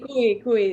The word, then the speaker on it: cuy: So I think is guinea pig, it's called el cuy. Is that how it's pronounced? Sí, cuy, El el cuy.